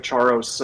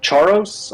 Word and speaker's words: Charos: It's a quest reward in Runescape called the ring of Charos. I don't know how to pronounce it. I always pronounced Charos. C H A R O S. I charos.